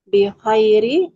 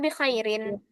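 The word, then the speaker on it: بِخَيْرٍ: ismi kholil kaifa haluka kaifauka kaifauka he walhamdulillah haluka anta bikhairi walhamdulillah. Nah, di situ ada tanwin, ada tanwin di huruf ro. Gimana cara baca tanwin? Bikhairi atau bikhairin? Bikhairin walhamdulillah.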